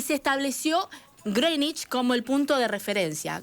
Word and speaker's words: Greenwich: la conocimos como Greenwich pero no se no se dice ni se pronuncia Greenwich les voy a enseñar Cómo se pronuncia del Meridiano cómo sería de ahora en adelante no diga más Greenwich es Greenwich bueno en Greenwich es